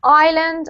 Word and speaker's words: island: so this one here weirdly there's no we have an s in the word but it's silent so we have the words island and islanders islanders yeah